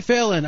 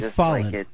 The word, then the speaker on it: Fallen: say it again then it's Fallen yeah Fallen just like it's spelled okay so how you